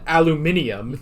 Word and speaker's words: aluminium: If you drop the I in aluminium, it becomes a completely different word. You dropped a syllable, too.